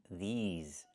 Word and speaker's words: these: I need the long e like green beans. These. Plus the z sound like in zebra and zipper.